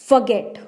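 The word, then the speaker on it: forget: FUH का मतलब है फ, और GET का मतलब गेट, फॉरगेट। इसमें आपको र की साउंड नहीं प्रोड्यूस करनी है, आपको फॉरगेट बोलना है, फॉरगेट नहीं बोलना।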